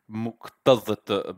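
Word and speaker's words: مكتظة: Or as I should have perhaps have pronounced it, muqtadhata bisakan.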